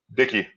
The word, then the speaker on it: Dicke: He's the franchise Will Dicke. Is it Dicke or Dick? Dicke. Dicke. Said it right.